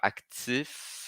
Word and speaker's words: actif: Então aqui no actif, eu estou falando só o F. Active, estou falando só o V.